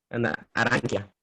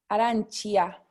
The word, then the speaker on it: arancia: aranquia. Arancia, arancia, ¿sí? Porque tenemos la C y la I, ¿sí? Entonces, chi, ¿ok? Pero aquí como es una A nada más, K, ¿sí? Arancia, ¿sí?